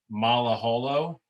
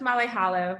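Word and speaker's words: Malaholo: mispronouncing your last name natassia mala holo did i get that okay close it's molly hollow but that's right thank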